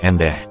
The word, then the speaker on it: Ende: Ende dan Nusa MD telah mengalami penggantian sebutan tulisan dan ucapan nama kota dan Nusa Ende sekarang biasa tanpa huruf H akan tetapi dalam tulisan dan ucapan terjemahan kata Ende dalam ejaan latin masih biasa ditulis dengan huruf H menjadi endeh sejak masa Portugis penyebutan